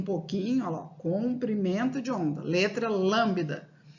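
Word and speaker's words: lambda: essa letra em grego ela se chama lambida não lambida é esse bebê é mudo o letrinha nós mudou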